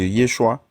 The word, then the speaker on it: Yeshua: qui est derrière ça, quand tu vas prendre le Yehoshua ou le Yeshua, tu vas voir que ce nom-là comporte 3 syllabes. Et le Jesus comporte 2 syllabes.